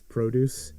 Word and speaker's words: produce: situation yeah like oh generally speaking a verb as the stress on the second syllable whereas the noun form would have it on that so to record something versus another sure or to produce produce and that's it for